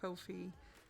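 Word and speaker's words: Ko-fi: make more sense though Kofi like coffee oh okay mmm-hmm now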